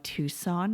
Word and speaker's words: Tucson: a sidebar here that I have no idea why Tucson is pronounced that way but spelled tuxen it it bothers my brain right it's likely that